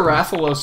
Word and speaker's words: Rathalos: And I'm pretty sure Rathalos is right, because I'm pretty sure that's how they pronounced it during the Smash Direct.